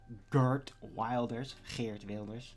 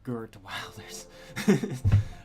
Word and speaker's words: Geert Wilders: It's the prime subject of Geert Wilders, as you actually pronounce it, which seems to be the most impossible thing in the world for the typical American to do. They'll say something like Geert Wilders.